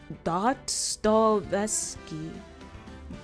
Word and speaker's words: Dostoevsky: Dostoevsky.